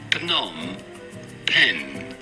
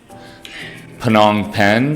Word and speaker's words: Phnom Penh: How do you go about pronouncing it? Phnom Penh.